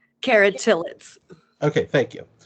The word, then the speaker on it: Tillitz: I'm sorry, how do I pronounce her last name? Cara Tillitz.